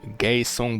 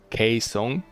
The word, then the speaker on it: Gaeseong: So actually pronounced G in Korean as K most of the time, not all the time. So this is not Gaeseong but Gaeseong.